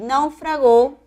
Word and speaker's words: naufragó: siguiente serie de palabras puedo pronunciar náufrago con chile es brújula náufrago que es un verbo es una palabra grave y naufragó es una palabra aguda debe advertirle en la